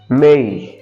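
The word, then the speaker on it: May: আমরা বলি মে বাট এর সঠিক উচ্চারণ হচ্ছে মেই মেই।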